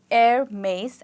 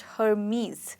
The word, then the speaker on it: Hermès: To pronounce this word, you need to drop the H and you call it Hermès and not Hermes.